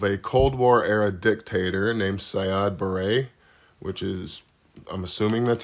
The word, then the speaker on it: Siad Barre: In 1991, there was the removal of a Cold War-era dictator named Siad Barre, which is, I'm assuming that's how you say his name. Sounds like something you put in your hair, but yeah.